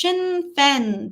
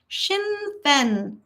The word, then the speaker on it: Sinn Féin: It's pronounced Sinn Féin. They fought against the UK for decades. Sinn Féin.